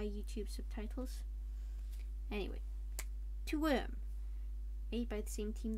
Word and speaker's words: Wyrm: Wyrm is a Scottish robot, hence the need to roll R's. I can't do that. And it's spelled with a Y YouTube subtitles. Anyway, to Wyrm.